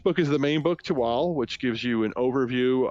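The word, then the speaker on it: Thuatl: project is called toal it's spelled t h u a TL which would probably make it I think it's toadd but it's not it's toal um and it is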